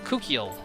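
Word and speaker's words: Kukiel: This is little Kukeel, as in a cockatiel.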